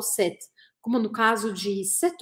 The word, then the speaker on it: cette: E aí, a confusão que às vezes as pessoas fazem é o seguinte: é que o som de set, set, é exatamente o mesmo som da palavra no feminino, que é a terceira que está aparecendo aqui na nossa lista.